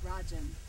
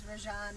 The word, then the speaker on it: Rajan: yeah which accent uh well it's pronounced rajin rajin yeah rajin but okay everyone says Rajan they make it sound much prettier than it is um and when you